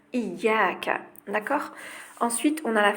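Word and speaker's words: إياك: Donc faites très attention à la prononciation, c'est bien iyyaka, d'accord?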